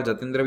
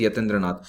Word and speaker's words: यतीन्द्रनाथ: अब वो इंग्लिश में वाई को यहाँ जे लिखा जाता है, तो हिंदी में यतीन्द्रनाथ बोलते हैं, इंग्लिश में कई बार जतेंद्र भी बोल देते हैं, करेक्ट प्रोनाउंसिएशन इज यतीन्द्रनाथ। तो यतीन्द्रनाथ मुखर्जी, जिनको बाघा